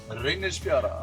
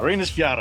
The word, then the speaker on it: Reynisfjara: Reynisfjara. Reynisfjara, that's pretty close, pretty close.